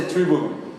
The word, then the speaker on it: tribulum: na verdade que chama em português a gente falaria tribulo mas a pronúncia tribulum Esse instrumento não sei